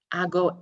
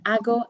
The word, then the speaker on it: hago: H's, beg your pardon, in Spanish are silent. It's almost as if they're not there. So we would never say hago.